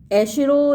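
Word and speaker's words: Acheron: सिन मी डेल एकिरोंटिस प्रोपिटी वेलियट Newman triplex जेहोवा, यानी ये एकिरोन जो देवता है, एशिरो इसको प्रोनाउंस कर सकते हैं, एशिरो देवता मुझे अपना आशीर्वाद प्रदान करें।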